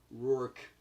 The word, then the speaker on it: Rourke: Rourke. Like Mickey Rourke.